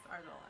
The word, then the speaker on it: Arzola: Yes, Arzola.